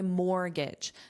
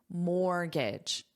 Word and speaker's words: mortgage: car loan, or my mortgage. Notice this word has a silent letter. I'll say it again, mortgage. What's the silent letter? The T. There's no T in this, so it's mortgage, mortgage.